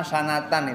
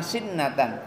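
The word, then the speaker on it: سِنَةً: Tadi saya membacanya sebelumnya salah, nama sanatan itu tidur selama 1 tahun. Kok tidur selama 1 tahun? Rupanya bukan nama sanatan, nama sinnatan, tidur sejenak. Tulisannya sama, sin, nun, ta, sama.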